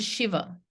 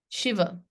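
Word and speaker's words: Śiva: is I a Lord Shiva Shiva it's not Shiva it's not Shiva it's sh um this is the I way of writing it s i v a so you might see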